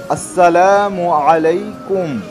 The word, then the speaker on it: আসসালামু আলাইকুম: বুঝতে পারছি তাহলে আমাকে সঠিক নিয়মটা বলে দিন সালামের সঠিক উচ্চারণটি হলো আসসালামু আলাইকুম বন্ধুরা আজকে আমরা শিখলাম